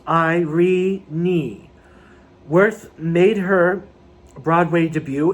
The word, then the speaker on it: Irene: british and american theater she pronounced her name given name with three syllables i re knee worth made her broadway